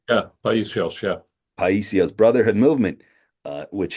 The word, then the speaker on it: Paisios: Paisios, if I'm pronouncing that correctly, Yeah, Paisios, yeah.